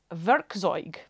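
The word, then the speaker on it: Werkzeug: uh one of the words for tul is verzo that's spelled w r k z e u g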